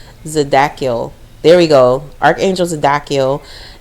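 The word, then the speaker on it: Zadkiel: It says Archangel Zad Zadakil. I pronounced that wrong. Zadakiel.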